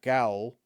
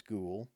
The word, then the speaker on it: ghoul: Now, I'm pretty sure I'm comfortable with the pronunciation of ghoul, and not gowl, right? I'm pretty sure that's ghoul.